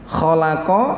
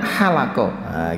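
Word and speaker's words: خلق: insaana FII ahsani momennya kholaqol lalu dibacanya halaqah gitu ya Kok ada titiknya lalu dibacanya halaqah demes mirip itu hak tidak ada titiknya itu menjadi salah jadi ya Hai holako itu artinya mencipta kalau halaqah artinya apa mencukur nah gitu ya Hai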